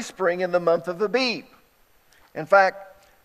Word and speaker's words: Abib: It's called Abib. Some people pronounce it Aviv. The B and the V and Bet can be B or V.